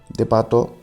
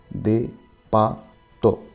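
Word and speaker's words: デパート: Depato is departmental store. Depato. We pronounce it as it's written in katakana, because it's a foreign originated word.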